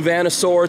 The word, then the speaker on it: Vanasaur: New Vanasaur t-shirt, that's how you pronounce that.